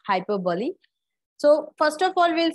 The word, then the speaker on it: hyperbole: Okay, so please pronunciate it correctly. It's not hyperbole, it's hyperbole.